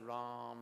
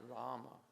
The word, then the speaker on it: Rama: devotees chant 28 syllables because they chant ram ram ram not Rama so that's 28 syllables